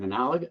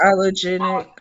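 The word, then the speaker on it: allogeneic: Analogous. It's allogenic.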